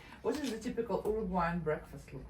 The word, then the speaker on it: Uruguay: But it's Uruguay.